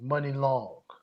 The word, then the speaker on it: Muni Long: By a female by the name of Money Long. Money Long, and it's spelled Muni Long.